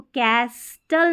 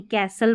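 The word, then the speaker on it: castle: इसको इसको कैस्टल नहीं कैसल पढ़ते हैं।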